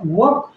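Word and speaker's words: walk: होगा कुड मतलब सका और वक वक जो है इसमें एल का उच्चारण नहीं होगा अब आप कहेंगे कैसे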